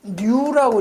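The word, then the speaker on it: ν: 요 밀도는 로우라고 읽죠. 로우. 요 동점도는 뉴라고 읽어요.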